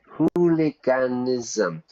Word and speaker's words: hooliganism: A lot of students have problems with the ISM word. Yeah. So, here's a trick. Whenever you see a word ism, the pronunciation is ism. Really, it's a m. Capitalism, communism, hooliganism, autism, you know, is a m. Of course, we don't spell it like that, but that's pronunciation.